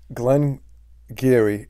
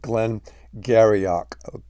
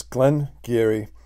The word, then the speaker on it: Glen Garioch: I think the secret is out okay um Glenn Geary is how it's pronounced but if you looked at the word and announced it it looks like Glenn garyock garyach okay but it's Glenn Geary and uh we're gonna get to the review